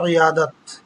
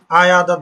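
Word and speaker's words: عیادت: আমি বলে বিমার দোস্ত কি ইয়াদত, উচ্চারণ ভুল করা যাবে না, উচ্চারণ হবে ইয়াদত। আয়াদত বলে অনেকে।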